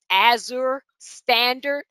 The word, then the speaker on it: Azure Standard: So I know my Einkorn, I purchased it from, I believe it's pronounced Azure Standard.